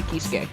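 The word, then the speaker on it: Kiske: now look up kai kisk i thought you know for the longest i was pronouncing this kai kisuke it is but we just say kiss because it's funny oh so this is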